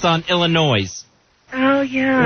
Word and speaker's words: Illinois: puts the S on Illinois. Oh, yeah. Right. That drives me nuts when that's perfectly clear. Yeah. That the S sound is silent.